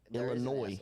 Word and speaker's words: Illinois: Illinois, not there's no s guys. Illinois is silent. Illinois.